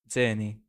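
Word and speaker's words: Czerny: I didn't like just like an average question, but I'd say silent C and just Z. Okay. Zerny.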